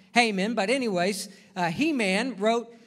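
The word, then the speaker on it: Heman: the 90th psalm haman spelled he-man but it's pronounced haman but anyways uh he-man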